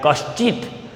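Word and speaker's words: कश्चिद्: Then सर्वे भद्राणि पश्यन्तु मा कश्चिद, see here कश्चिद, not kachid, you will read it, you will read it like kashchit, shravan sha, then cha and the, okay, kashchid.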